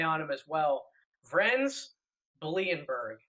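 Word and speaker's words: Bleijenbergh: I probably butchered that name. There's no way I got that 100% right. I told you we were going to have some more difficult names here, but Blindberg. It's Blindberg.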